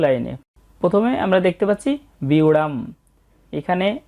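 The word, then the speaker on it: ব্যূঢ়াং: প্রথমে আমরা দেখতে পাচ্ছি বিউড়াম। এখানে জ ফলার উচ্চারণটা আগে হবে এবং কার চিহ্নটার উচ্চারণ পরে হবে।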